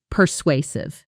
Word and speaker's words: persuasive: Per swah. The stress is on the second syllable and that middle part sounds like sway purr sway.